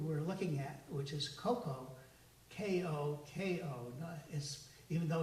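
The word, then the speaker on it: koko: spelled with a different it's pronounced simply very similarly but it's not the same as chocolate cocoa this is coco for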